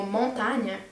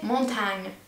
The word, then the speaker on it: montagne: Aussi le mot montagne, j'ai prononcé montagne. Et j'ai vraiment de la peine avec le son ñ, montagne, et pas montagne, montagne.